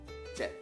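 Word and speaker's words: เจ็ด: Langsung dibacanya jet. Jet. Jet. Nadanya apa? Siang e. Kenapa? Karena jochan kelas menengah. Kelas menengah saat bertemu dengan konsonan mati ya, atau konsonan endingnya mati, dia akan adanya siang e.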